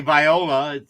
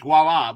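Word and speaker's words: voilà: Just like voila is spelled with the V. You don't say viola. It's voila because of the base language it came from.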